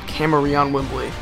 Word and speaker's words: Kamerion Wimbley: I've I promise you people that's how you pronounce it Kamerion Wimbley I looked it up its Kamerion Wimbley 61